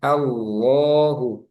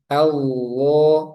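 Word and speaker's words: الله: Nah, contohnya di sini Allahu itu kan a fathah. Nah, sebelumnya fathah berarti lamnya di sini tebal sehingga bacanya Allah. Jangan Allah. Allahu tebalkan pangkal lidahnya naik.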